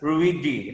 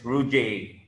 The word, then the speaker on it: Ruijie: it's rude i mentioned i mentioned it as ruidi luigi but i i just learned that the right pronunciation is rujay yes correct correct okay what brand is this